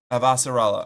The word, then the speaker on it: Avasarala: Who played, Inspector Grayson in Arcane and, Counselor, Avasharala? In The Expanse, I think it's Avasharala. Her voice is stellar. Avasarala.